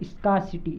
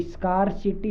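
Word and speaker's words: scarcity: अगला plenty, plenty यानी बहुतायत, और स्कार्सिटी, स्कार्सिटी, ये स्कार्सिटी नहीं पता है, ये रे साइलेंट रहता है।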